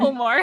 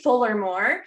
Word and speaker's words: Fulmore: Fulmore. Fulmore. I always want to say it like Fullermore. And yeah, I get like Fillmore a lot too.